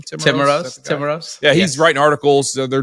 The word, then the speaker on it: Timiraos: How you pronounce his name? Timiraos.